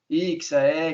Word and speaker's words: EXEA: A pronúncia Ixia, fica à vontade, tá bom? Ixia, Exia, a gente já ouviu de todos os tipos de pronúncia, mas só por curiosidade, Ixia é uma abreviação de Extremo Oriental das Américas.